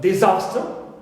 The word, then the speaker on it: disaster: for nouns I have the word disaster zaster it contains long a long vowel so Z is stressed clear potato potato so